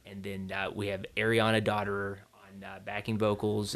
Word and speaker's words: Dotterer: And then we have Ariana Dotterer on backing vocals. And that's how you say it. Okay. Dotterer, yeah. It reads, you want to say it some other way, but yeah.